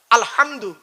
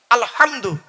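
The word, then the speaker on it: الحمد: না আব্বা বলুন না আলহামদু গলার ভেতর থেকে উচ্চারণ করবেন এই মা বোনেরা মা বোনেরা শুনছেন এই মা বোনেরা ভালো করে শুনে নাও আলহামদু গলার ভেতর থেকে উচ্চারণ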